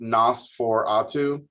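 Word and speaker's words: NOS4A2: It's pronounced Nosferatu, like Nosferatu.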